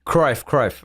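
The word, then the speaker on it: Cruyff: like uh and so Johan cruft was or proof I don't know how to pronounce that cry cry thank you um like he would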